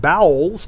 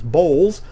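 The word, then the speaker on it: Bowles: That was a very publicized uh uh she used a kid about how they mispronounced her name because it was uh they said bowels cuz it was bowls, Montana bowels and then Montana Corral when she married Bill.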